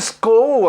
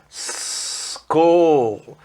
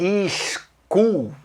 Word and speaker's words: school: Agora, repare na pronúncia. School, não é school, como o pessoal fala no Brasil, é olha o S no começo da palavra em inglês, a pronúncia é school, ok?